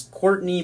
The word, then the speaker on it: Courtenay: The Red Bull head of strategy, Will Courtenay, not sure exactly how to say it. It's Courtney, but with some extra letters put in there to make it look confusing.